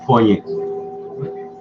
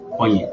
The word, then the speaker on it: poignant: Collins told CNN the poignancy was Poignant. Poignant. The G is silent.